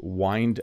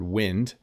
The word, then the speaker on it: wind: a good idea to wind up the cord. Now notice this looks a lot like the word wind. So it's one of those words that has two meanings and two pronunciations.